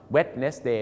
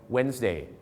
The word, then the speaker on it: Wednesday: วัน พุธ นะ ครับ เรา คง จะ ไม่ ออก เสียง ว่า wetness Day ใช่ ไหมม ครับ เขา จะ รวบ ตึง กัน เป็น Wednesday So คำ ว่า สบาย